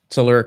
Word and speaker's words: telluric: Telluric currents. Did I say it right? Telluric currents.